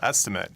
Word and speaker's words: estimate: Estimate can also be used as a verb, but the pronunciation is a little bit different.